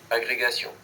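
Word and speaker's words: agrégation: एग्रीगेशियों ऐसे करके कुछ है। इसको बोलते हैं एग्रीगेसियो।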